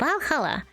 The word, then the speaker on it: VA-11 Hall-A: The name sounds silly and a bit hard to pronounce. Good thing it's actually called Balhalla. The funny number and letters are just a code.